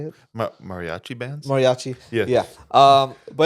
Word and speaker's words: mariachi: he's bringing on guests he's bringing on fing mariaa Brands like I butcher that how do you say it mariachi bands Mariachi yeah um but yeah so no